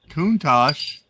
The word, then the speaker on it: Countach: See, Countach is the correct way, although Chris's way is funnier. I said Countach.